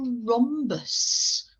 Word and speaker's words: rhombus: here in yellow and we spell that with a silent h children so it's r silent h o m b u s does our rhombus have